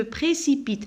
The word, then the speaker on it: précipitent: Les voyageurs se précipitent, se précipitent. Alors la lettre C, je la prononce S parce qu'on a ici I, précipite.